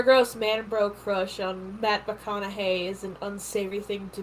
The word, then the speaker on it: McConaughey: Mahogany? I don't know. It sounds like a... Mahogany. That's what I thought it was! It sounds like it is a noise of... It is pronounced McConaughey.